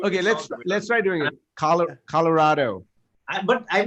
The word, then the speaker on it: Colorado: Because you have to roll your R's. If you don't roll the R in Colorado. Okay, let's try doing it. Colorado.